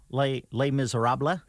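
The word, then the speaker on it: Les Misérables: you mean well it's it's spelled less miserables but yes but you don't say it that way could you spell it the way it's pronounced oh les miserables yeah you can well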